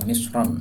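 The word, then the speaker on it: مصر: Mesir ini kalau dibaca misro ya itu maksudnya adalah negara Mesir yang kita kenal beda lagi kalau dibaca misron Nah kalau misron dengan tanwin ini e kota mana pun juga di sini dibacanya misr dan sesungguhnya negara Mesir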